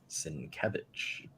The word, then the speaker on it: Sienkiewicz: I learned that here, how to pronounce his name. Sienkiewicz.